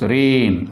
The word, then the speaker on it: rain: So first letter only we have to pronounce. Okay. And second letter will be silent.